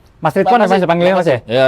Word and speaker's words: Ridlwan: Jadi guys, Mas Ridwan ini, jadi agak susah nih pelafalannya. L-nya hilang aja. Oh ya, Nah, Ridwan gitu.